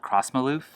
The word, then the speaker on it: Crossmyloof: said yes absolutely this yeast is called cross Maalouf that's how you say it CRO SS my L oo f now this is a